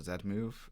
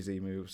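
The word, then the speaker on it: Z-Move: having an argument about whether it's called the zed move i'm sorry english our english powers are no stronger here than anywhere else but uh there's there's no z moves it's only z moves and they're not in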